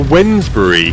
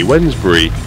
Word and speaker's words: Wednesbury: Oh, we're flying over Wednesbury. Spelled like Wednesday. Wednesbury.